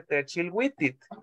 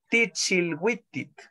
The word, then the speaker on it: Tichilwitit: La vamos a escuchar la canción después de hacer la traducción, y usted va a escuchar que ella no dice Techilwitit, sino que ella dice Tichilwitit.